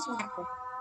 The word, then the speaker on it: Soeharto: Jadi Anda jangan heran lagi kenapa nama presiden kita yang pertama itu Soekarno, kenapa nama presiden kedua kita Soeharto, tapi dibacanya Soekarno, dibacanya Soeharto. Jangan heran lagi ya.